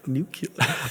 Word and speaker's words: nuclear: Oh my gosh, it's pronounced nuclear.